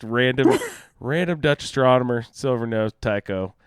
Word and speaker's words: Tycho: So just random Dutch astronomer, silver nose, Tycho. I think it might have been pronounced Tico even, so I might be making a total connection that was stupid.